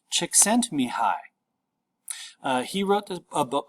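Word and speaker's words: Csikszentmihalyi: pronounce this last name this last name is pronounced chick sent me high he wrote a book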